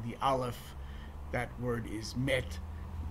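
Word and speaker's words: מת: That word is met. This the modern Israeli pronunciation. Emes and mes would be the Ashkenazi pronunciation.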